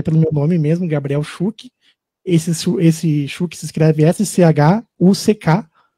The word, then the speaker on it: Schuck: Spotify, né, até pelo meu nome mesmo, Gabriel Schuck. Esse Schuck se escreve S-C-H-U-C-K, tá?